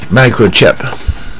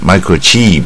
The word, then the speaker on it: microchip: 晶的元件啊，晶片，microchip，这个是双母音，micro 啊，micro 这个不难。